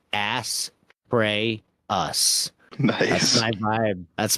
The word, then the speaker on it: Astraeus: Name: Astraeus, pronounce ass, pray, us.